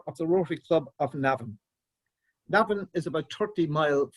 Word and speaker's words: Navan: historical Boyne Valley, where our Rotary Club of Navan resides. To introduce myself, is my name, and I am a member of the Rotary Club of Navan.